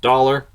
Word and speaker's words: Daler: minutes at 59 seconds looks like daler to me it's pronounced dollar okay who knew um and